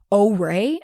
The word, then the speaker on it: Orai: is an app called Oray, I believe. I looked it up and that's how I think you pronounce it.